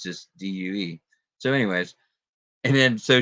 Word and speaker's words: Deux: said do you know basically the x is silent and it's just due so anyways and then